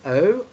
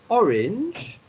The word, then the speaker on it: orange: Orange, just like in English. Okay? But the pronunciation is different. Instead of saying orange, which is the English way of saying it, the French way is orange.